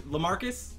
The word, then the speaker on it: LaMarcus: LaMarcus? Yep. LaMarcus is pretty good. Aldridge rhymes with bridge, like all the bridges.